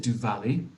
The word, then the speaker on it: Diwali: Yeah, it's a very famous, quite a famous festival, isn't it, Diwali?